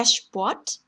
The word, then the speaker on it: Sport: 마찬가지로 발음 기호 참고하시면 되고요. 예시를 보면 der Sport, der Sport, der Student, der Student, Stuttgart, Stuttgart 이렇게 되는데요.